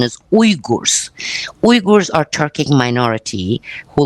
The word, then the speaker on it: Uyghurs: They said, let's call it Uyghuristan, or in English, some people say Uyghurs, but actually the correct pronunciation is Uyghurs.